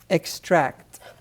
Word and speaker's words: extract: Number 4, extract. extract. E-X-T-R-A-C-T. E-X-T-R-A-C-T. Extract. Extract. Now, the pronunciation I'm giving you for this word is for the verb extract.